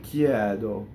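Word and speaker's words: chiedo: So a lot of words that have a semivowel before an E will open the E.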